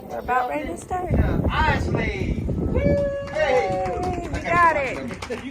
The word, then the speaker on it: Iseli: Wes Isley's here. Wes. How do you say your last name? Isley. Like the Isley brothers, man.